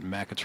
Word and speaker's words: Mackett's: And the best burger in all of Tazewell County can be found at Mackett's Rail House in downtown Pekin. Yes, you're McQuetz, right. Yeah. it's how McQuetz. it's pronounced, and it is wonderful food.